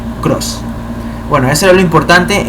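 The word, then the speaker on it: Krause: Klein se escribe K-L-E-I-N, Cross se escribe K-R-A-U-S-E, Cross.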